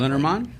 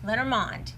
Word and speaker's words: Lenormand: Lenormand? Lenormand. Okay. Lenormand. And so why is it that? It's because it's a French word, It's and that's how French. you pronounce it.